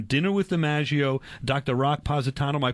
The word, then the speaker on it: Positano: Rock Positano my pronouncing your name right that's correct and John